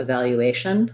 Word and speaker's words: evaluation: this one with ipa we have uh the e says schwa uh stress is on the vowel syllable val and then we have a glide here a value a shun so i would rewrite that as a vowel you um actually secondary stress on vowel and main stress on